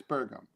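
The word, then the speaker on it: Doug Burgum: always his name is you have to pronounce it buram or like it's like sorghum but it's bergam all right um let's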